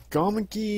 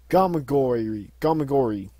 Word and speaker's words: Gamagori: Four, which was against, like, I believe it's Gamagi, is how you pronounce his name. Gamagori.